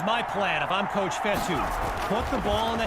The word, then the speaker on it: Fetu: So Coach Fetu spelled F-E-T-U. For the longest time, I was pronouncing it Coach Feta, like feta cheese.